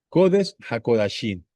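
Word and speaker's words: קֹדֶשׁ הַקֳּדָשִׁים: En hebreo, a ese lugar se le conoce como codes jakodasim. Y es bueno que aprendamos a pronunciarlo. Codes hakodasin, porque estamos llamando correctamente a ese lugar.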